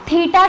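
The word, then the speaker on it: theta: symbol होता है ऐसा इसको हम बोलते हैं तीता क्या बोलते हैं तीता ठीक है ऐसा पढ़ने हैं इसलिए प्रोनाउंस करने के लिए मैंने लिख के दिखाए तीता तो तीता जो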